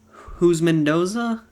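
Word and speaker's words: Houshmandzadeh: i don't know how to count and number 31 here we have tj who's mendoza i believe is how it's pronounced who's mendoza but same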